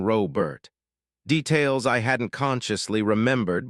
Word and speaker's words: Robert: The way she said Robert with emphasis on the first syllable, Robert, instead of the more common Robert.